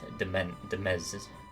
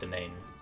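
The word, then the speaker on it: demesne: the night yeah domain i keep wanting to say like de mez but i know that's pronounced domain is deeply respected by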